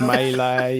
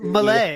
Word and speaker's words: Melee: made up my mind this is the pronunciation like Melee and um oh yeah his favorite thing is Malay I hate when he